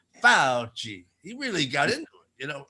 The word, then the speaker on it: Fauci: do you go about pronouncing this last name fauci yes in italian the sea is pronounced like ch so do say fauci anthony fauci hanoi i will teach you how to fix